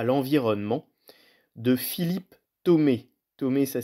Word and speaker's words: Thomé: Il s'appelle Ettore Sotsas, de l'objet à l'environnement, de Philippe Thomé. Thomé, ça s'écrit T-H-O-M-E.